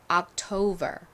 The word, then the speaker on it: October: 봤던 세과 끝부분이 똑같죠 자 미국식 발음으로 해보면 October October이 됩니다 October 그런데 한국식으로는 보통이 단어를 옥토버라고 많이 표기를 하니까 요것도 잘 기억해 두세요